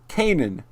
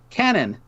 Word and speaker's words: Kanan: Kanan. No! What? This was your April Fool's joke to me, is telling me the wrong way to say her name right before the last episode. Oh, I did? Canon.